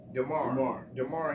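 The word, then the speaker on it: Damar: Darren, it's pronounced Darren, right? Darren Hamlin? DeMar Hamlin.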